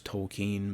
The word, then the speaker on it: Tolkien: I guess the proper way is Tolkien, based on everything I've heard. Before hearing proper pronunciation, I always pronounced it Tolkien, but I read